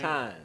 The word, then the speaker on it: Tynes: Tynes. Tynes.